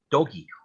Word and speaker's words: Doge: to tell us why doge and why not first of all i want to say that everyone should pronounce it doggy because it's a dog